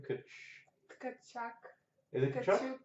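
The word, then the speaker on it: Tkachuk: Kachuk.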